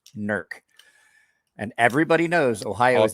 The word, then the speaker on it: Newark: tell that i'm from this area because i pronounce it correctly nerc ohio see i don't even know where that